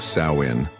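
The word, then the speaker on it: Samhain: This was Samhine, pronounced Sain, the festival that marked the end of the harvest and the beginning of winter.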